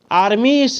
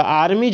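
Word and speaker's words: armies: ठीक है, आर्मी इस नहीं होगा, हमेशा याद रखिएगा आर्मीज होगा, क्योंकि एस के पहले ई है और आई भी है, तो इसका उच्चारण आर्मीज हो जाएगा।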